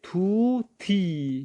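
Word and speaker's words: طوطی: فارسی میں پڑھیں گے تھوتی. کیا پڑھیں گے؟ تھوتی. اردو حساب سے پڑھے تو توتی بنے گا، توتی، لیکن فارسی تلفظ میں تھوتی.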